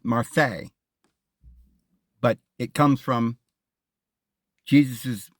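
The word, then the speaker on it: Marseille: a few miles from martial France well I guess they pronounce it Marse but it comes from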